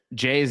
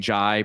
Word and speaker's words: Jai: Pete Tu one uh J Jay's name is pronounced as Jay which I did when I did the podcast today that's how I I pronounced it I had been saying ji previously but it is Jay so let's let's we'll